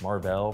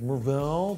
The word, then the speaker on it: Mar-Vell: the movie theater to correct your pronunciation of Mar-Vell from a recent video. Actually, it's Mar-Vell, but hey, nice icy face and that crocodile finish navy blue leather band.